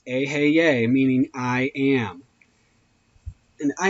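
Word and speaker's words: Eheieh: Vibrate the name Aheye, pronounced Aheye, meaning I am.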